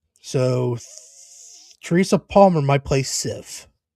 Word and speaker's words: Sif: So Teresa Palmer might play Sif. SIF.